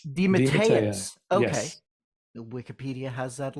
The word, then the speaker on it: DeMatteis: something simple uh your name your how to pronounce my last name you mean uh well uh detis Deus Deus okay Wikipedia has that a little off then